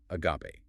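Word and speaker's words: ἀγάπη: Agape. Pronounced a g a h p a.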